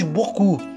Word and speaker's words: beaucoup: Assim como, ao querermos dizer muito em francês, dizemos beaucoup, correspondente a 4 sons, mas se escreve B-E-A-U-C-O-U-P, 8 letras.